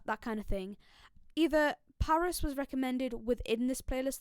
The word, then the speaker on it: PVRIS: up we have got paris now this is spelt pvris not p-a-r-i-s and let me tell